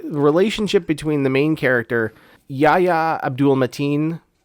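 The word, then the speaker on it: Yahya Abdul-Mateen: I mean, the the relationship between the main character, Yaya Abdul Matin, I believe is how you pronounce his name.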